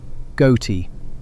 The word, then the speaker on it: ghoti: Ghoti, spelled with the GH from enough, the O from women, the T from nation. Say it correctly, and you've said fish.